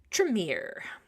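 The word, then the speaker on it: Tremere: usually um interacting with humans the most often tremier that is how you pronounce it the tremier these guys are actually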